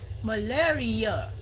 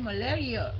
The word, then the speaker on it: malaria: Hả, mình nhấn dần thứ hai thường thường mình nhấn dần thứ tư. Malaria, right? Malaria. Malaria.